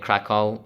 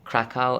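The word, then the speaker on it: Kraków: do stop me at krakow right that's how you pronounce it krakow and and um even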